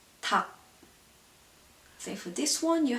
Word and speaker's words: 닭: So yeah, for example, this one, they're L and G, but you only pronounce a G, like 닭.